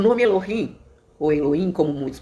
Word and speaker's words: Elohim: O nome Elohim, ou Elohim, como muitos pronunciam, uns pronunciam Elohim, outros Elohim, o H tem um som de R, né?